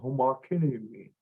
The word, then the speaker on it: homakiniwi: Okay, homakiniwi. That's how we say that.